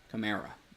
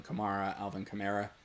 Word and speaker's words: Kamara: Camara is how they pronounce it. Okay, that just had to double check there. I know I've gone back and forth a couple times. Alvin Kamara. It is Alvin Kamara.